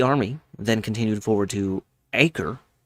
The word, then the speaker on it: Acre: The army then continued forward to Acre, I believe that's how it's pronounced, easily taking that town,